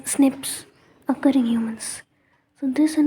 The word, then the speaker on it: SNPs: base DNA differences snps single nucleotide polymorphism pronounced as Snips occuring humans so this